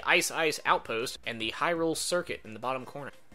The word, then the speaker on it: Hyrule: hi Lillian I've played the I know it's Hyrule is how you pronounce the Kingdom but I don't know that